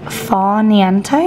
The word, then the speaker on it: Far Niente: So this is called Far Niente. Is that how I pronounce it?